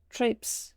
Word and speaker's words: trapes: What do you mean you don't pronounce the se? Why put the SE there if you don't pronounce it?